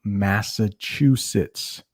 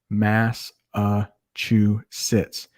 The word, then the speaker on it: Massachusetts: can say that right mass uh chew sits you chew your food you sit in the chair massachusetts it's it's not that